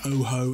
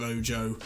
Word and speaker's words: Ojo: Saying Tavernier, I was saying Oho instead of Ojo.